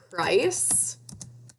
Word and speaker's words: price: Price. You hear the silent E on the end makes I say its name. Now, why does this C sound like an S?